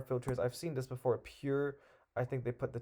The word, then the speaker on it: PUR: Pure.